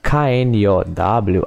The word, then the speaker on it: know: Perceba que o know, K-N-O-W, a letra K, ela não é pronunciada. Não é kno, nem cano, nem kno, nada disso. É apenas know. Como se fosse não em inglês. N-O, know.